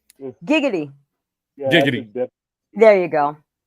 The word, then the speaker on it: giggity: Well, with a G, it's giggity. With a J, it's jiggity.